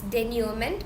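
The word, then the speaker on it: denouement: is finale denument so make sure that you're pronouncing this correctly it's denument and so the word came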